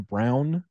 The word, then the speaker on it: Braun: Like, when you start bringing in like Christian Braun and Thomas Bryant, I'm like, all right, I don't know if I can. You know what the crazy thing is? You know he pronounces his name Christian Brown.